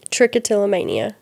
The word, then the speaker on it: trichotillomania: and tell us one more time how to pronounce it. Trickotillamania.